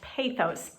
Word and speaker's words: pathos: And finally, pathos, sometimes pronounced pathos.